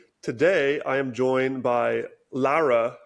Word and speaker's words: Laura: So yes, I'm originally Lithuanian, so even if it's spelled the same, people who know me or my friends, my work colleagues, they know that it's pronounced Laura. Yeah, it's one of the most common names in the world, but the pronunciation changes depending on where you are.